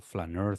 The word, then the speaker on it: flâneur: flaneur, I'm not saying it right, am Flâneur. I? Yeah. Flaneur. It's okay. So yeah, it's correct. I think.